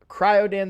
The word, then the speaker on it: Cryodan: So Cryodan the Blue is how I'm going to pronounce it.